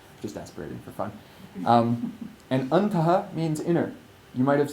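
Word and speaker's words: antaḥ: So the word antaha, using a visarga, A-N in English for just now, A-N-T-A-H with a dot underneath, pronounced antaha, means inner.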